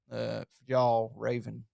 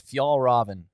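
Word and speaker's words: Fjällräven: so much is because it has this logo, Fjall Raven logo. But I just and it's pronounced. And by the way, I looked it up online. It's Fjallraven. Fjallraven.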